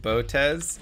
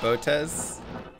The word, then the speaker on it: Botez: your presence honors me why'd i pronounce it botez it's botes how are you supposed to say it i'm not hearing the difference is an s like in pronunciation yeah i'm american i